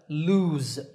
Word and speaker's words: lose: I don't lose it notice that the last sound in this word is Z lose another meaning is to